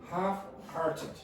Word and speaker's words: half-hearted: Half-hearted. Half. The L is not pronounced.